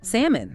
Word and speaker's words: salmon: It is salmon. Yes. Please tell everyone do not say the L. Haha. Correct. The L is completely silent. It's salmon.